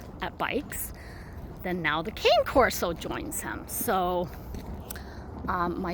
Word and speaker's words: Cane Corso: Oh, a can uh Cane Corso or some people pronounce it can caro or something like that.